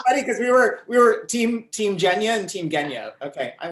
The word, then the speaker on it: Genya: Is it Genya or Genya? Because I've heard you pronounce it Genya, and someone asked in the comments. It's Jenya.